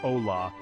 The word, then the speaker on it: hola: and essential Spanish greeting hola this simple word pronounced Ola is your key to